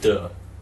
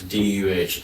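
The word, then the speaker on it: 德: funny in English is duh. So d e kind of pronounces it as d u h duh.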